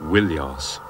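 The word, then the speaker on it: Ilios: troa and more often ilos originally pronounced willos now in this general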